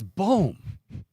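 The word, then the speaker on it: Baum: the scientific unit ohm now if it was spelled b-a-u-m okay that's bomb or bomb or yeah it's boom anyway I should change it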